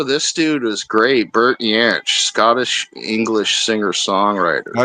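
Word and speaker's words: Jansch: dude was great Bert yanch Scottish English singer songwriter I don't know him he guitar Bert y it's spelled with a J but it's pronounced y oh where did Hebrew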